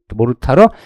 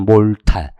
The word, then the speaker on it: 모르타르: 근데 뭐가 뭔지 모르면 안 되니까 우리가 콘크리트, 시멘트, 모르타르, 시멘트 액이 있는데 약간 재료가 다르죠. 그러니까 물, 시멘트, 모래, 자갈 다 섞으면 콘크리트고요. 물과 시멘트와 모래까지 섞으면 하니까 모래까지 있네. 모르타르 또는 몰탈. 발음에 따라, 그죠?